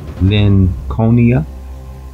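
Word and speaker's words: Linconia: ever heard of Lynn conia I suppose that's how you would pronounce it because it would be in juxtaposition with the name Lincoln IA was the name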